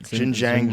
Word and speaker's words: Xinjiang: ethnic minorities in its, how do you say that? Xinjiang region? I believe that's right. Xinjiang region.